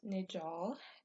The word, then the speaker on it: Najal: Hi, my name is Najal, pronounced Nijal, and this will be the first video I take of me drawing.